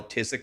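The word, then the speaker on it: phthisic: people here could spell tisk right if their life depended on it. Tisk. Tisk is spelled P H T H I C. P H T H I S I C.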